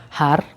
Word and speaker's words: har: So as you chant har, if you're able to roll your R, if not, no worries, but if you are, the tip of the tongue touches the roof of your mouth as you roll, har, har.